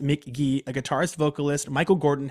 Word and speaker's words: Mk.gee: Cameron's number art number one artist was uh Mick gee it's pronounced Mick G but it's spelled MK Jagger so it's spelled mk.gee pronounced McGee a guitarist vocalist Michael Gordon has made one